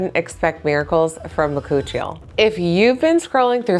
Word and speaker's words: bakuchiol: Let's start with the basics because most people can't even pronounce this ingredient correctly. It's called bakuchiol and it comes from the